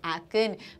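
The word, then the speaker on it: Aachen: एक्न, A-A-C-H-E-N. इट is pronounced as एक्न.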